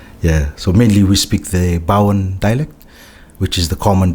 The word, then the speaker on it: Bau: Bowen. How do you spell that?